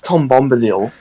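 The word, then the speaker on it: Tom Bombadil: do and why is that because it got Tom babidi Dawn you can't even pronounce no pronunciation it's dog it's Tom bombaleel to be fair I was really far away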